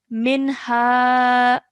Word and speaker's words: منها: So ha is one of the letters of the throat, which means that this noon sakin will be a clear noon pronunciation, okay? So that's something this will be pronounced as minha.